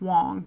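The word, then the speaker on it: Wang: Michelle, I believe it's spelled W-A-N-G, but it's pronounced Wong. Michelle Wong, I think is how you pronounce it.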